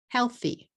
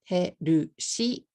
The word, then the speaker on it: healthy: If you say healthy in katakana, herushi, you're going to say 3 syllables.